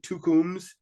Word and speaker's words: Tukums: always bet list FK tukums two thousand it's that's just my pronunciation is probably terrible but it's t-u-k-u-m-s f-k kind of like FC two comes 2000.